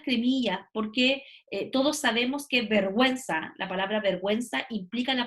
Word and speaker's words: vergüenza: ¿Cuándo la pronuncio? Cuando aparecen las cremillas. Y las cremillas son un elemento ortográfico, que son los dos puntitos que van arriba de la vocal y que indican que en este caso sí la tienes que pronunciar, ¿ya? Cuando yo digo, por ejemplo, vergüenza.